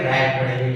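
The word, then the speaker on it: write: पर हमारा क्या है, डब्ल्यू का उच्चारण नहीं किया गया है, इसलिए यहाँ पर क्या है, डब्ल्यू साइलेंट है, इसलिए हम इसको क्या पढ़ेंगे, राइट पढ़ेंगे, ठीक है ना।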